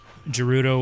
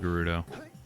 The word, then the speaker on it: Gerudo: I'm calling it Gerudo. I say Gerudo because GE. Like I made this argument with you too. Like your name. My name is Gerald. Gerald starts with a GE.